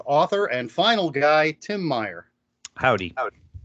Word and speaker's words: Meyer: Did I pronounce Meyer?